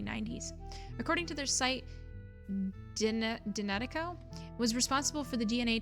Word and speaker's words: DNA Teco: Pronounce Dinatico.